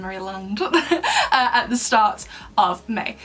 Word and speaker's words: Maryland: Festival that took place in Maryland, or Maryland. I always feel like Americans pronounce it Maryland rather than Maryland, at the start of May.